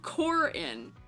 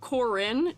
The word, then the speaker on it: Corin: in game oh interesting I just say it Karin because I know somebody whose name is pronounced that way in life who has it spelled the way you guys are spelling it um you know